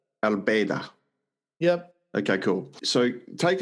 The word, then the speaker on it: Baydha: How do you pronounce it? Baydha. Baydha.